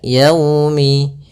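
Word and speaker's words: يوم: Li yaumi, agar menyempurnakan makhraj huruf waw, kita agak monyongkan bibir kita. Li yaumi, ya dilembutkan yaumi.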